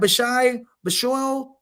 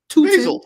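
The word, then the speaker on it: Bhayshul: It's just basil is how it's pronounced.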